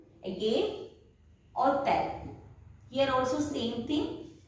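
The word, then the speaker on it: hôtel: H is silent and we pronounce it as hotel, hospital.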